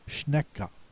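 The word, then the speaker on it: Schnecke: The pronouncer should sound out the e at the end of the word. It should not be a silent e. It should be schneeka.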